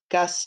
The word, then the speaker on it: Gus: Gus takes the train. Gus, bus, Gus. They rhyme.